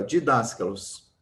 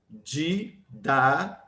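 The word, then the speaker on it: διδάσκαλος: Didasca. Ó, em tese seria didás, mas não é didasca. O S ou sigma pula para a próxima sílaba. Em vez de ficar aqui didás, ele vai ficar ska.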